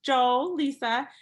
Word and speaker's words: Joelisa: Well, my name is Joelisa, pronounced Joelisa.